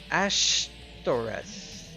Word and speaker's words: Ashtoreth: His name is derived from a Canaanite goddess, Ashtoreth. That's apparently how that's supposed to be pronounced, or Astarte in Greek.